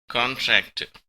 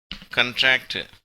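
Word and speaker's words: contract: 1962 கான்ட்ராக்ட். இதற்கு 2 உச்சரிப்புகள் உண்டு. இது பெயர் சொல்லாக, நவுனாக அது பயன்படுத்தப்படும் போது கான்ட்ராக்ட் என்று உச்சரிக்கப்படுகிறது. வினை சொல்லாக, அதாவது வேர்பாக பயன்படுத்தப்படும் போது கண்ட்ராக்ட் என்று உச்சரிக்கப்படுகிறது.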